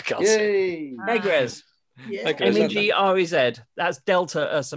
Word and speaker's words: Megrez: Okay, next one, Megrez. Yay. Megrez.